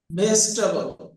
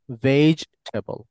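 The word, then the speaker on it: vegetable: Sikdar Yasin Sikdar brother বেস টেবল হ্যাঁ বেস টেবল এটা বেস হবে না এখানে দেখতে পাচ্ছেন sound ভেজ টেবল ভেজ টেবল হ্যাঁ আপনারা সবাই যে কাজটা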